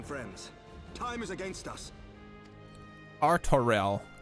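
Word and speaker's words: Artoirel: you have to promise arturelle your assistance is most welcome lord arturo to arms then friends time is against us artorel good now they've heard it in game i can pronounce it properly thank you my brain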